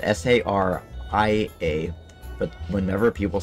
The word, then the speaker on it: Saria: annoys me is when people mispronounce zarya's name it's spelled s-a-r-i-a but whenever people say sarah is just like no it's not sarah there's